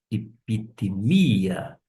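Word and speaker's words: ἐπιθυμία: Cai o cosmos paragatai cai re epitímia ou fazendo aquele ajuste que eu chamo de preciosismo. Epitmia por conta da sílaba tônica.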